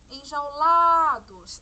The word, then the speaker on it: enjaulados: ainda a palavra enjaulados enjaulados a sílaba tônica a gente ela vai perceber que é o lá né enjaulados a pronúncia demorou